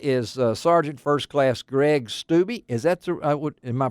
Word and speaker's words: Stubbe: there, and that is Sergeant First Class Greg Stubbe. Is that am I pronouncing your last name right, Greg?